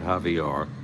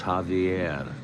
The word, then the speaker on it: Javier: last name all along it's not javar it's Javier julon Javier second and third one